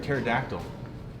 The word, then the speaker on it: pterodactyl: can't you hear a pterodactyl go to the bathroom because the P is silent what do you call